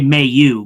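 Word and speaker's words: Mailloux: I I call him Mayu because Mayu is it's it's like a it's like a it's like male u but instead of saying maleu like where you really pronunciate the uh pronunciate the male I just say may you because that that's like the I feel like that's the uh Quebec way of saying it mayu is is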